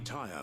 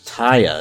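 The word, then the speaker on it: Tarja: Lady Tyre might be able to... Taya, that's how you pronounce it.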